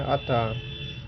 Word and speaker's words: अतः: अतः इस प्रकार लिखते हैं लेकिन पढ़ते हैं अतः।